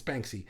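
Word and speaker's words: Banksy: can how do you say it beny it's Banky uh he's well against doing his art for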